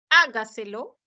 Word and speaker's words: hágaselo: Hágaselo, hágaselo es una palabra sobre esdrújula, enclitizada, ¿no?